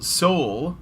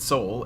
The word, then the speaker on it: Seoul: So South Korea's capital, Seoul, I think that's how you say it, Seoul, Seoul, yes, is removing women's only parking spaces 14 years after they were introduced.